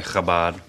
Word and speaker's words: Chabad: You don't have to be Jewish to be helped by Chabad.